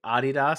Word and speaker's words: Adidas: it's like also how people say adidas sometimes instead well that's that's actually that's like the german because it's adi dassler that made it so like that is technically correct but then they say